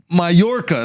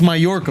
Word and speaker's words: Mallorca: majorca he went to majorca it's pronounced mallorca brothers don't say like that dude that's how latinos say he had a girl